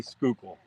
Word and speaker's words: Schuylkill: show yeah yeah don't don't try to pronounce that you'll get it all wrong just say Schuylkill that's funny she tried